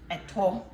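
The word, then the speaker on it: ɛto: And eto is spelled like an E, but it's spelled like a three that goes this way, and it's T-O, eto. So like 3-T-O. That's the Ghanaian way of spelling eto, and it's a very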